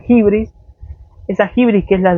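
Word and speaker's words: hybris: griego que es el de hibris, H-Y-B-R-I-S, se pronuncia hibris.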